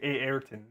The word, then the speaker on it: Ayrton: I think the Brazilians say Ayrton. They like double pronounce the A, and Prost.